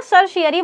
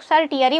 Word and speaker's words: certiorari: उत्प्रेषण इसको ना सर शयरी बोलते हैं। कुछ लोग सर टियरी बोलते हैं। जो मन करे वो बोल लीजिए।